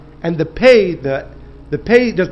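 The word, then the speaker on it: פ: dot inside in Hebrew there's two ways to pronounce the letter pay you can pronounce it pay with if it has a dases inside if it has a dot inside or you can pronounce it Fay if it does not have that if it does not have the dot inside says that that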